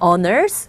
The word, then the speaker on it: honors: honors의 H음은 이 H 자체가 소리가 묵음이기 때문에 honors, 우등을 뜻하고요.